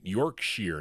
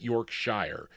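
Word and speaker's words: Yorkshire: Is it Yorkshshire, right? Yorkshere, not Yorkshshire. York Shear. I always get that wrong in the pronunciation.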